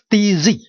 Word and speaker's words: z: But how is it pronounced? It's just like English, DZ. DZ. Don't think it too complicated about it, because when you say hands, that Z is in Hanyu.